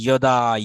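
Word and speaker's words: यदा: তাহলে এটা যদা যদা হবে না, যদা যদা ধর্মস্য, এটা হয় না, ইয়দা ইয়দা হি ধর্মস্য।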